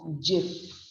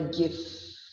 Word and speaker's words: GIF: The first word is GIF, जो आजकल की मोबाइल लैंग्वेज में बहुत आता है सुनने में, GIF. It's pronounced as J and if. It's like the sound is of GIF, not the GIF.